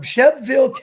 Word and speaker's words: Shelbyville: my roommates was from chef ville to see and it's felt Shelbyville but they pronounced Chef Ville Tennessee and his dad sent